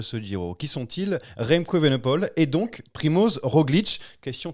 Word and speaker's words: Evenepoel: Non, Evenepoel. Non. Poel. Poule. Comme une poule. Parce que OE c'est ou, comme Woodpool.